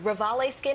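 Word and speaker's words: Revalé Skin: Rivali Skin, am I pronouncing that correctly?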